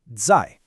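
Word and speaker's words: 在: Zai, pronounced zai.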